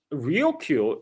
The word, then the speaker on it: Ryukyu: Now, Okinawa itself, the Ryukyu island chain itself, also is actually tied to this dispute, because so Ryukyu is the Japanese pronunciation of Luchu, which is what the island called themselves.